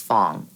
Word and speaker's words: Phoong: an F right but we actually do pronounce our last name as Fong and when my family